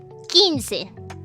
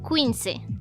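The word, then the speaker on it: quince: is written over there, it's called 15, not 15. Alright? That's pronounced 15. Ignore the U in pronunciation, because when you are writing it, you have to write the U.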